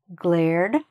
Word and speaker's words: glared: Glare, glared, has a D sound at the end.